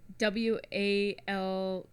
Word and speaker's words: Walther: WALTHER. I think. A Walter? Walther. There's an H in there. Yeah, Oh, there's an. It's just H in spelled like you have peanut butter in your mouth.